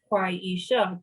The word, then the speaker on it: Quieesha: So if I break my name down for you in syllables, and it's Quieesha, 3 syllables, you're telling me as a professional you cannot say 4 syllables, honey.